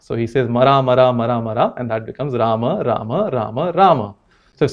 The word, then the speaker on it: Rama: So schwa deletion, as you know, the name is Rama, not Rama, not Ram, but Rama.